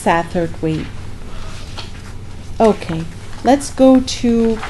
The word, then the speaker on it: Satterthwaite: this Welsh Satterthwaite is sometimes spelled with a c' after the S and sometimes this the C is omitted either way either way it's pronounced Satterthwaite okay let's go to